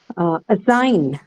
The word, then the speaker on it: assign: Assign. It's a verb, ma'am. Assign. Verb, yes. So Sign. second Second Second syllable.